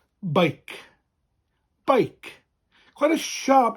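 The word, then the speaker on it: beic: shortened and it's pronounced bike bike quite a sharp not bike as we'd say in english but bike quite sharp and short bike spelled b e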